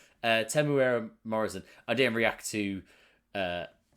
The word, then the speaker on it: Temuera Morrison: always get it wrong there we go so tim tamara morrison and imagine google's wrong it can't be wrong that's definitely a pronouncer uh temuera morrison i didn't react to uh seeing him as